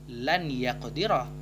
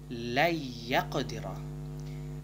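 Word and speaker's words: لن يقدر: Maka cara bacanya jika digabungkan antara kata lan dan yaqdira, bukan dibaca lan yaqdira, namun la yaqdira.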